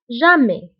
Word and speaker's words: jamais: وانتبهوا بالنسبة لتوجور وجامي فكنكتبوهم بأس آخر الكلمة ولكنها لا تنطق. toujours jamais.